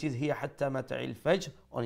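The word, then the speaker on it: حتى: হিয়া তাড়াতাড়ি, hatta, ha from the middle of the throat, the big ha as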